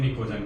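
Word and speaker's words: pnictogen: लिख के बताया था प साइलेंट रहता है ठीक है एन आई सी टी ओ जड ए जे जी ई एन एस निकोजन ऐसे बताया था जिसमें टी साइलेंट रहेगा और प साइलेंट रहेगा ठीक है निको जनस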